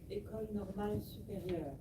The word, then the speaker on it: École normale supérieure: She attended the École Normale Supérieure, a school, so how do you pronounce it? École normale supérieure.